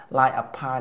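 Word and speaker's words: Life of Pi: Xong cái phim Lie of Pi này là họ phá sản luôn. Đọc là Lie of Pi nghe, chứ không phải là B nha bạn. B là sai nghe.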